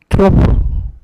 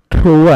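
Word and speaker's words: trough: 마루 마루 총충 마루 팔떡 마루라 그러고 그다음에요 아랫 부분을 트로프 트로우가 아니야. 이 GH가 F발음이에요. 트로프.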